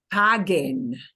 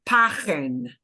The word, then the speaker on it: paguen: Okay, so, por ejemplo, if I were to take that U out, I would no longer be able to pronounce this word as paguen. Yeah, it would have to be pagen. And I don't want to sound like pagen, because the original verb,